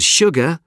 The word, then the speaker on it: sugar: Sure and sugar are the only two words in the English language that begin with S-U and are pronounced sh.